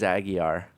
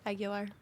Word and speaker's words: Aguilar: See, I really thought it was Aguiar. No, it's Aguilar.